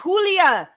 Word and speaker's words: Julia: No, he said Julia.